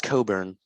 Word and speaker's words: Cockburn: attacking his offensive style i know it's coburn but it's it's spelled cockburn in the same way